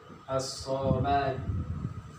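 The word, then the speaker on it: الصمد: Samsiah, cara membacanya itu dengan dilebur. Dilebur, lamnya itu tidak dibaca.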